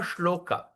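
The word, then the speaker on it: śloka: So like that, okay, that Nairgunya Uttama Shloka, Shloka. You see the S with apostrophe, we pronounce like shampoo.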